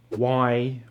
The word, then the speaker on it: why: So when is the letter H silent? How about these W question words? What, why, where, when, which, and who.